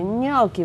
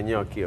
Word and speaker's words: gnocchi: Gnocchi, gnocchi, right? Gnocchi. Gnocchi. You gotta pronounce it that age.